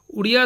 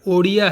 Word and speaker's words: ओडिया: ओसा की भाषा और जाति दोनों ही अर्थों में उड़िया शब्द का प्रयोग होता है। किंतु वास्तव में इसका सही उच्चारण ओडिया है।